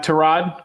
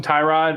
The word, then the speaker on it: Tyrod: I feel like we should start with uh Trod because very important that the pronunciation gets right. I feel like everyone calls him Tyrod and he's our starting quarterback today. So give we should pronounce it correctly the way that uh his parents named him.